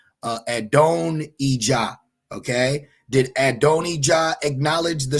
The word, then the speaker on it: Adonijah: I have trouble pronouncing his name. I know it's Hebrew is different, but Adonijah.